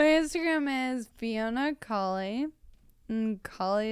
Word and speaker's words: Cauley: is Fiona colie and colie is the a u l e y pronounced colie and and then my